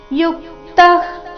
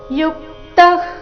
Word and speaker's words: ಯುಕ್ತಃ: ಯುಕ್ತಃ ಕರ್ಮ ಫಲತ್ವ ಶಾಂತಿ ಮಾಪ್ನೋತಿನಷ್ಟಿಕಿ ಅಯುಕ್ತ ಕಾಮಕಾರೇಣ ಫಲೇ ಸಕ್ತೋನಿಬದ್ಧತೆ ಯುಕ್ತಃ ಇಲ್ಲಿ ಯು ಮೇಲೆ ಆಘಾತ ಬರಬೇಕು ವಿಸರ್ಗದ ಉಚ್ಚಾರಣೆ ಅರ್ಧಕ ರೀತಿ ಬರಬೇಕು ಯುಕ್ತಃ ಕರ್ಮಫಲನ್ ತ್ಯತ್ವ ತ್ಯ ಆದ